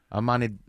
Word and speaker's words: Ahmadinejad: Former President Mahmoud Ahmadinejad. Thank you. I learned how to pronounce it.